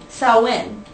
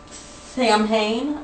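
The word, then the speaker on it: Samhain: the first holiday that we come to is sawin and it's actually it looks very much like it's would be pronounced Sam ha but it's SN so um the pronunciation of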